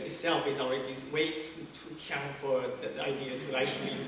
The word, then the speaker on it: ㄎㄧㄤ: And you pronounce it as Kiang, and it's an onomatopoeia